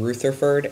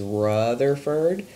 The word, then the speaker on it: Rutherford: Rutherford for some reason everyone alone wants to pronounce this guy's name Luther furred and that drives me crazy this is Rutherford that's how you say his name and I'm using yellow